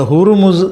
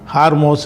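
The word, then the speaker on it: هرمز: இதுல முக்கியமாக பேசப்படுற ஒரு விஷயம் என்னன்று கேட்டா இந்த ஹுருமுஸ் ஜலசந்திதான். ஹார்மோஸ் இப்படில்லாம் சொல்றாங்க. சரியான உச்சரிப்பு வந்து ஹுருமுஸ் தான் அந்த பாரசீக மொழியில அதுக்கு அந்த உச்சரிப்பு அப்ப ஹுருமுஸ் ஜலசந்தி அப்படிங்கிற விஷயத்தை ஈரான் தனது கட்டுப்பாட்ட வச்சிருக்குது.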